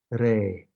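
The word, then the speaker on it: ⲣⲏ: to say the son they will say this word rey all right so re is actually a real pronunciation of the word it's a very very late one uh it now is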